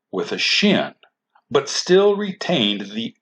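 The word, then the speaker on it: שין: dot above the Shin if the dot is on the right side then this letter is pronounced Shh and is called the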